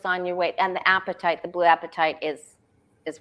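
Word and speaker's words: apatite: your weight and the appetite the blue appetite is is one of those crystals so that's a great one to show it's spelled a-p-a-t-i-t-e yeah it's pronounced kind of like appetite your appetite right okay so Sandra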